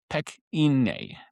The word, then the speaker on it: Pequignet: And you're going to hear me pronounce them Pequignet. The French is Pequignet.